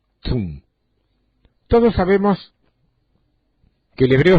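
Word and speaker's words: צום: identifica al ayuno es la palabra zum se escribe con una t una Z u y la m Tum todos sabemos que el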